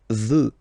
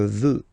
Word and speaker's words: veux: Vouloir, first person, je veux. Final X not pronounced. Je veux.